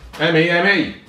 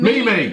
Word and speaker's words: meme: M-E-M-E. That's meme. Meme. Not Mimi.